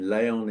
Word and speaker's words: Layon: It just means on the side of the slope, and du Layon, and Layon is Layon.